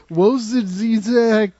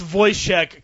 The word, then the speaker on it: Wojciech: And second, the soundtrack, the score by an unpronounceable Polish guy, Wojciech I was Kilar.